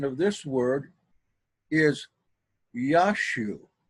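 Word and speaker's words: Ἰησοῦ: Correct pronunciation of this word is Yashu. Yashu. And I'll show you why that's the case. But people that study Greek, they're told that it's pronounced Iesu.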